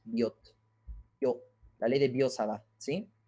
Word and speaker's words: Biot-Savart: Yes, the T is silent because it's French and it's not bio, but Biot. Biot. Savart.